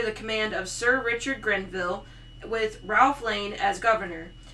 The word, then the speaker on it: Grenville: Soon after Grenville returned, I want to keep saying Greenville. It's probably where Greenville came from. Probably. Because it's spelled Grenville. Yep. Just like Ille. Greenville. Yeah. Veal. Greenville. Grenville. When he returned, he did